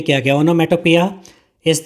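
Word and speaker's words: onomatopoeia: Such sound words such sound words are called ओनोमेटोपोई ओनोमेटोपोया। इसकी जो सही प्रोनाउंसिएशन रहेगी वो रहेगी ओनोमेटोपिया।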